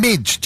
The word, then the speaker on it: Mige: I've got Valo and Mige. Is that how you say it? Mige?